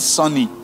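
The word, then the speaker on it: Sawny: spell it s-a-w-n-y you're calling it sunny like a Ghanaian sunny hahaha Bush South Africans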